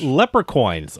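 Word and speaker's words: Leprecoins: with the little big leprechaun with the little bige head little I've been mispronouncing that all this time Le lepre coins oh my God okay I thought it was leprechaun I mean they're still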